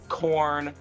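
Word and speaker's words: Khorne: There is Nurgle, Korn, Slenesh, Corn, and Zech. Yes, but it's but it's spelled K H O R N E. Oh, okay. It's not the ban. It's not the vegetable.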